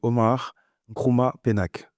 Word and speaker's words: Omar Nkrumah Penaque: invité du jour, Monsieur Omar Nkrumah Penac. C'est bien ça? Tout à fait. Je suis même surpris par la manière dont vous avez prononcé mon nom sans l'avoir écorché.